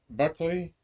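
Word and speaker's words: Buchli: uh how did you say his name uh buckley buckley yeah b-u-c-h-l-i bob springer is in the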